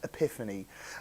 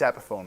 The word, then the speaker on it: Epiphone: who's um you know pronounced the uh Gibson affordable subsidiary as Epiphany uh or something like that and you go it's Epiphone mate we've all had that